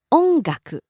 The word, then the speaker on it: 音楽: R&B Next, 音楽 music. So high, low on and stays low.